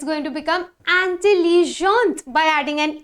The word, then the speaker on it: intelligente: Intelligent, intelligente. Grand, grande. Because there is a rule, the pronunciation rule says that normally the last consonant is silent, but when the last consonant is followed by the letter E, then we will pronounce the last consonant.